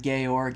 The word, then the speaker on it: Georg: They kept calling him Georg, and my brain is just like, it's George. Yeah, no, not in Austria. But it was just made me laugh how they're in Austria, pronouncing things in a German way, but in British accents.